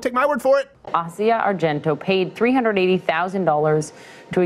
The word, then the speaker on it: Asia: I also had it wrong. Did you hear? It's Asia. Asia. Asia. Asia. Acai bear, yeah. How did we get it? There's only three syllables, and we got them all.